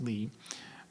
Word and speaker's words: Lie: Eric Lee it's pronounced Lee but he found that the companies were lying and his last name is spelled the same as the word lie.